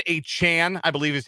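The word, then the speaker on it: Achane: in Jalen waddle uh Devin a Chan I believe is how he wants his name to be pronounced now Devin a Chan uh and Raheem mostert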